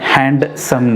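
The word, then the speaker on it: handsome: हैंडसम सन हैंडसम यह हैंडसम यहां पर यह जगह है यह साइलेंट होता है ओके आम तौर पर स्टूडेंट्स या फिर जो भी इंग्लिश पी करते हैं वह कहते हैं हैंडसम हैंडसम कहना है आप लोगों ने शीघ्र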